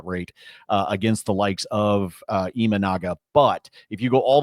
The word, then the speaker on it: Imanaga: Imanaga? Imanaga.